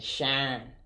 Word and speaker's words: Sharyn: Yes, SHARYN. It's spelled differently. Yes. And when you say it, you can say Sharon.